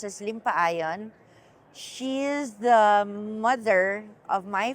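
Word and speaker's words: Limpayen: i m p a ye n but it's pronounced as limpa iion she's the mother of my father who happens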